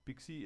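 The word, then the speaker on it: PKCE: code Tran flow and pixie is pke it's very nice to pronounce reminds you of little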